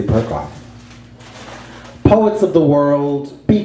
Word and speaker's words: Perkoff: Perkoff. And, yeah, it rhymes with something else, but we won't go there. And, which one was I gonna, oh, yes, of course, of course. Untitled by Stuart Z. Perkoff.